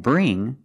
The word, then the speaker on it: bring: when you see words like Wing sing and bring you see the combination of ing you know